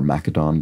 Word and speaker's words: Macedon: throngs Philip II of Macedon the father of Alexander the Great there we go or mcadon depending on how you want to pronounce the Greek and once popular rug